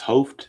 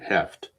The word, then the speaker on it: Hoeft: If it's Hoft, let me know, but I'm going to pronounce it Heft.